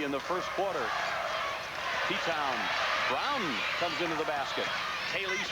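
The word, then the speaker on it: Bran: great defensive play by Brown Sandy Brown It's pronounced brown but spelled b r a n she posts across and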